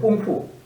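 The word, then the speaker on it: 功夫: 노력하 공부입니다 그게 뭐냐 이거 중국발음으로 하면 공포입니다 공푸 우리가 그 중국 무술 궁우 있죠 궁우 궁우 이것이 공포입니다이 공부를 갖다가 충 빠름을 하면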